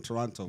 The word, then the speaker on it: Toronto: I'm from Toronto bro this guy always pronounced the second T bro you always bro I hate hate when you pronounce a second T this guy I'm from Toronto but like that is how it's spelled but like no one says it like that but you are from